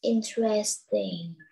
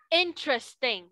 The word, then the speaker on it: interesting: The field trip was interesting. Interesting, not interesting. Interesting. Interesting. Đúng rồi, tụi con nhớ đọc ba âm thôi.